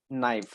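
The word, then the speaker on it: knight: क्या हो जाता है उच्चारण तो हम करते हैं नाइट लेकिन लेखन करते समय इसके यह कि इस प्रकार से लिखना होता है तब जाकर वह सही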